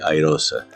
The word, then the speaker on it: iROSA: En inglés se dice Irosa.